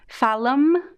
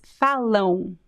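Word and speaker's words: falam: the o so here most students would say falum remember what i said the m at the end of words in portuguese it is not pronounced i'm saying this really slowly because i wanted to memorize this don't forget there is no um in portuguese no it's phallon so the um here the am is pronounced exactly exactly like bone it is the same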